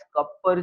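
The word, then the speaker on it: Kupffer: Cells present होते हैं which are called as कपर sales. थोड़ा अजीब प्रोनाउंसिएशन है बट ये साइंटिस्ट का नाम है, अगेन कपर सेल्स।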